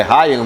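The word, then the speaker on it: Rayan: naquele lance foi o não é Rian é é é a outra pronúncia o Rian é do Corinthians mas é Ryan né que que chama o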